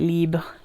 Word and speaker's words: Libre: Now Destinee from Rive is a dupe of Libre, or I imagine you would call it Libre if you're going to say it properly, by is it Yves Saint Laurent?